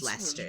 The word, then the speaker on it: Leicester: it's Lester yes it's pronounced Lester leester and it's in lestershire